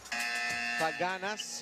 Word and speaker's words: Taganas: Taganas is the correct pronunciation, I've been reminded.